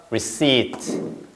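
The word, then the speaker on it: receipt: 줘보세요 영수증을 reat 됐죠 reat 중간에 피 발음이 없습니다 피 발음이 없다라는 거 요거 잘 기억해야 돼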